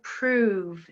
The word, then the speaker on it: prove: Shove, love, dove, prove. Shove, love, dove, prove. What do you think? Well done if you said prove. It's a long sound there, isn't it?